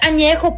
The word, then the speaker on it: Añejo: least you can do is learn how to pronounce the tequilas correctly. Blanca, Reposado, Añejo. What the fuck is Añejo? It's Añejo, puñetas.